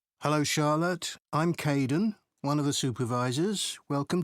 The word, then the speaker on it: Kaeden: I'm Kaeden, one of the supervisors. Welcome to the team. Hi Aiden. Uh it's Kaeden.